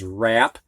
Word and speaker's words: wrap: you press pause now the silent w coming before an r in these words and the first word is wrap which means to cover